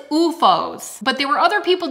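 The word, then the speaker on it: OOFOS: I think it's UFOs, but there were other people doing videos that were like pronouncing it one way and another, and I think it's UFOs.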